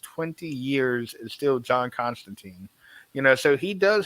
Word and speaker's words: Constantine: you mentioned uh Constantine isn't that constant time John constant time uh no we are not watching the Sandman so we don't pronounce it that way Constantine I knew your ancestor